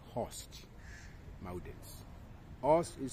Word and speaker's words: horst: of block MERS block mountain are also called host Mountain host is spelled h o r s t block mountains